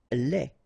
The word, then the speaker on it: lait: Lait. Un lait. Okay, so the only difference is final thing here, de, you don't pronounce it, te, you don't pronounce it, so phonetically you only have this le.